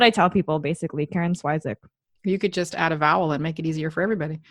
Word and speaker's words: Swyszcz: So if you want the actual way to pronounce it, it's pronounced Swyszcz. So it's like SV and then a soft ch at the end.